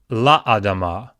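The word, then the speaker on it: לַאֲדָמָה: If you have the preposition lamed, l, and it is attached to adama, as you see here, l plus adama will give you two Shevas in a row. Well, instead of just having the lamed vocal Sheva, it will turn into la adama, la adama.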